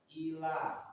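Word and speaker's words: إلى: Ila los, nggak ada tesinnya.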